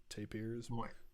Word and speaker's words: Tapirs: dream of electric tapers is that how it's pronounced yeah tape ears uh from acid mothers temple and the melting